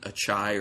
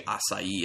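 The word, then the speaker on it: açaí: It was just a sour beer done with blueberry and achai, or as some people say, acai, I think is how it's said.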